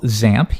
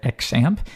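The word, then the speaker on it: XAMPP: at something we call zamp you might hear some people call it exam either one really works there's no official pronunciation but most people do zamp and you'll see actually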